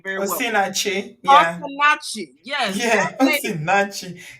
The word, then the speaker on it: Osinachi: Osinachi.